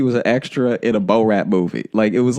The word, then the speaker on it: Borat: ran like he was an extra in a Bo-Rat movie.